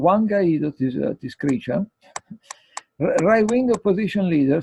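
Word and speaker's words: Guaidó: And they say, Juan Guaido, which is called Guaido, as a symptom like people like Guaido, yes, it's pronounced Guaido.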